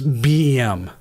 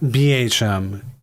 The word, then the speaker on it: BEM: So it's BEM. Not BHM. BEM. That's how you're supposed to phonetically say it.